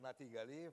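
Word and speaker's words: Natig Aliyev: My name is NatigAliyev. I am Minister of Azerbaijan. Yes. You give us the correct pronunciation.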